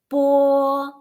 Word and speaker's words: 波: Okay, so the first consonant that we pronounce 波, 波.